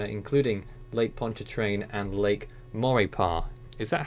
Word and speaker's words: Maurepas: Morgan City Louisiana including Lake Pontchartrain and Lake Maurepas is that how it's pronounced Nelson or paw yeah you got it